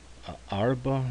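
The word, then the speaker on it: ארבע: There is no vowel, so we're going to use the silent schwa to put the break there.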